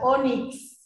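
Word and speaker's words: ónix: a sacar esa palabra onix. Fíjense que Onix. fíjense cómo se escribe. Onix. ¿Sí? La vocal O, y por más que termine con X, es como que suena con S, ¿sí?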